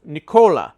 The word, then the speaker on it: Nicole: a blast and while her name in English was spelled Nicole I was informed that her name is actually pronounced Nicola and I hope I